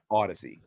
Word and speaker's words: Audacy: Odyssey is how it's pronounced. It looks like when you first see it, it looks like you should be saying Audacity, but then you look at it and it's right.